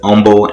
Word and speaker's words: Humble: see where humble and that's right i'm saying it right humble i don't know what that's all about when i came here my first week i was saying humble texas and people were looking at